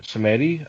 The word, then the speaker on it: Simeti: are here with cedi of alternate Comics did I already butcher the name I'm so sorry if I did no that's right that's that's fine it's you pronounced it correctly yeah yay I did